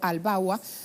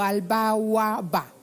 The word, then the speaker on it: Al-Bawaba: Hablamos de Egipto, Al-Sisi ganando elecciones para segundo mandato con 97% de los votos, lo está reseñando Al-Bawa o Al-Bawaba, para tener la pronunciación correcta, me comí un ba.